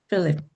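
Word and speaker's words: Philip: 필립ip said to 필립ip립에게 여기 필립ip립은요 발음이 ph음을 f 발음으로 합니다. 그래서 필립 필립 필립에게 빌립이죠.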